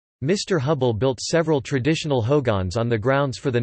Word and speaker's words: hogan: Architecturally, the guest house is in the Hogan, pronounced Ho-gon, Navajo for home, style.